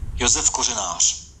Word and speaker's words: Josef Kořenář: Josef Kořenář. So it's not Kořenář. There's some, accents and apostrophes on some of his letters in his last name. It's Josef Kořenář.